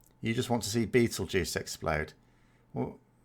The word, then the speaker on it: Betelgeuse: supposed to be you just want to see Betelgeuse explode well it's pronounced Betelgeuse as silly as that sounds it's actually how